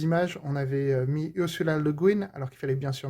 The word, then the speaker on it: Le Guin: des Bretons qui contribuent, donc ça se prononcerait pas Le Guin de toute façon, donc il faut bien prononcer Le Guin à l'américaine.